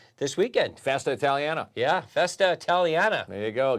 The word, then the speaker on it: Festa Italiana: weekend Festa Italiana yeah Festa Italiana there you go got to say it right Marco just outside the studio far what did I say you said italan Itali I can hear them